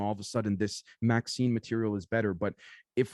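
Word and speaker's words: MXene: do we pronounce it m zine mx in they said it's pronounced maxine or magazine like the female name maxine oh gotcha thank you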